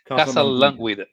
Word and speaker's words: Casalanguida: Not Luca Casalanguida. It's Casalanguida. Casalanguida.